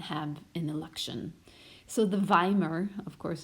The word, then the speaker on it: Weimar: an election so the vomer of course it looks like a w but is pronounced the Weimar the very